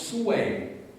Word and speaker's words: Sui: Sui, on dit Sui, là-bas, mais ça se prononce Sui, S-O-U-E, accent grave I, enfin, translittéré évidemment dans l'écriture latine, mais c'est Sui.